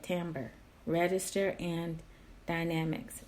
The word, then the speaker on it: timbre: such as duration, timbre, that is pronounced timbre, by the way, not timbre, Timbre. You say it timbre.